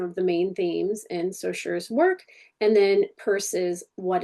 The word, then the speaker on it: Saussure: So today, this video will include content concerning Saussure, Ferdinand de Saussure.